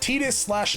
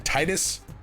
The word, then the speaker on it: Tidus: I grew up saying Tidus, mostly because I kind of made the connection between tide and his name. Like there's a lot of water, he swims all the time, he has affinity for it. Tides, Tidus. But Kingdom Hearts comes along and is like, it's Tidus.